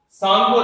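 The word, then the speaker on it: Tsangpo: देखो, जितना टाइम जो सांगपो रिवर, टी इसमें साइलेंट है, सांगपो रिवर हिमालय में या तिब्बत में फ्लो करता है तब तक इसका नाम सांगपो रहता है।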